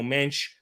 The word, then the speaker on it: Mendes: centre-back positions with nuno mendes or nuno mensch as he meant to pronounce it in portuguese left back and the